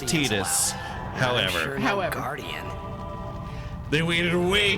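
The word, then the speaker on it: Tidus: We've been saying Tetus. I haven't. Sometimes I say Titus, but mostly Tetus. We We acknowledge that the correct pronunciation uh per the writer is Tetus.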